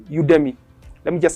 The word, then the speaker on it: Udemy: you'll be for this there's a website called udemy let me just spell it it's u d e m y u